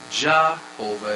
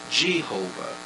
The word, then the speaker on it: Jehovah: It is not jahovah as in j ah. It is g j e h. The j has the g sound. Jehovah like Jesus ji who.